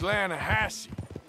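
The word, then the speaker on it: Lannahechee: it runs right near here yeah but it's pronounced Lana hassy why is everything in English said differently than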